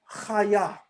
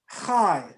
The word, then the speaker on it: chaya: The word for life in Hebrew is chaya. Chaya. That's how you say life. Or you can say chai, which is spelled in Hebrew chet and yod.